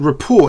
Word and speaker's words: Rapport: I would have said Rapport, you know, like French. Rapport, you know, you have an excellent rapport with someone. Anyway, apparently it's Rapport.